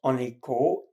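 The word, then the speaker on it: Anikó: The girl was Aniko, A-N-I-K-O, and the boy was Laci, L-A-C-I, nickname for Laszlo, as her father, his father was.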